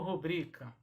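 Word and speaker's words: rubrica: palavra que deixa confusão como é que eu pronuncio pública ou rubrika da adec é sua rodrigo é assim que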